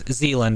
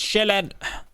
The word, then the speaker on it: Sjælland: That's the name that we've given Sjælland, as it's pronounced in Danish. Zealand is probably the English pronunciation that you've heard. Zealand, I know Zealand. Yeah. Yeah. It's not how it's pronounced, though. It's Sjælland.